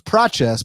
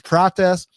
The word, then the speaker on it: Prates: I thought it was Pace, but I heard him pronounce it. It's Pratz.